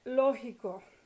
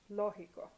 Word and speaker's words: lógico: Or logic, lógico, lógico, lógico. So the third to last syllable is lo, lógico. Write an accent on the lo, on the O.